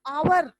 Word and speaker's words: hour: जो है वो आपका कॉन्सोनेंट है और उसका प्रोनाउंसिएशन भी कॉन्सोनेंट का है। उसी तरह आवर, HOUR, आवर जो है वो है कॉन्सोनेंट पर